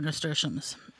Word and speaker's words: nasturtiums: Nasturtiums?